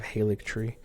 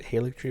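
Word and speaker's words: Haligtree: I'll start pronouncing it Alex turning instead of halik tree just because I like pronouncing things right and I've seen some people pronounce it Haley tree but most people pronounce it Alex tree and I just when I'm looking at how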